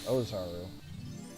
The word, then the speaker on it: Ozaru: Everyone goes, Uzaru. Or something. Ozaru. That's right, it's Japanese, gotta make sure to pronounce the letters properly.